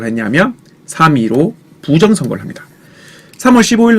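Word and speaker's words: 3·15 부정선거: 점 찍혀 있다고 해서 3.15 아닌가요라고 얘기하는데 이거는 점은 발음하지 않습니다 3위로 부정선화라고 얘기하시면 돼요 3위로 부정선거 중요한 핵심 단어였으니까 공부를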